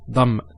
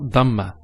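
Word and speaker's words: ضمة: Nursery it's very important some people actually they they say they don't say it with a with a lad they say with a dad so they say dumb it's not dhamma uh maybe um non-arabs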